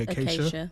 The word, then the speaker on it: acacia: How do you pronounce the wood? I keep The acacia.